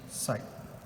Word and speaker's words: psi: Okay, so you can pronounce it as psi.